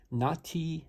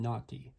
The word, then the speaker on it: Nati: Actually, this knife is designed by someone named Nati Amor, and I'm not making that name up. And it's not spelled like you're thinking. I'm not talking Nati, I'm talking Nati, N-A-T-I.